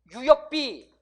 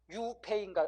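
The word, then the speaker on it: 류이페이: 중국 발음은 장꼬룽. 유역비 이러면 안 된다고, 여러분. 유페이인가 아마 그럴 거예요.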